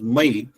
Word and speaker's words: Maya: This is what this princess demanded and accordingly that boon was granted and Brahma gi ordered my uh m a ya but my we have to pronounce as my the architect of Assuras to develop these three cities the beautiful cities.